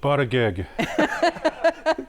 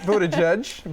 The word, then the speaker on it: Buttigieg: Pete Buttigieg. Close. Close. It's Pete Buttigieg, but I mean, that was a good tough try.